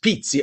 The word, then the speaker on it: Pizzi: So Pizzi, but it's pronounced Pizzi.